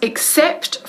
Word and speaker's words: except: Decimos except for, pronunciando bien la P y la T al final de except.